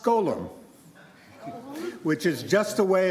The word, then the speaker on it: GGLLMM: new category, which is, as an acronym, is GGLLMM, which is pronounced Golem, which is just a way of saying that some of these models are doing some pretty bizarre things.